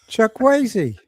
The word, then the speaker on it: Chukwueze: Chukwueze.